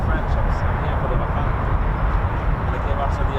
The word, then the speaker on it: Rafale: Oh, no, it's Rafale.